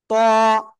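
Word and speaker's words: ط: ইরকান ইসলাম খেয়াল করেন এটা মোটা আওয়াজে পড়তে হবে ত সবাই জোরে জোরে বলেন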